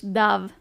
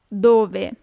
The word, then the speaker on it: dove: Where, dove. Don't be tempted to pronounce it as in English, dove. It's dove. How, come.